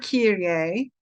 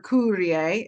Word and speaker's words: Kyrie: The word Kyrie or Kyrie, if you pronounce it in the Greek, is used in the Septuagint, which is the earliest Greek translation of the Old Testament.